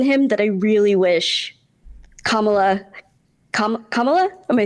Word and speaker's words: Kamala: some things in him that I really wish kamla comma am I saying it right kamla yep okay we would show right now right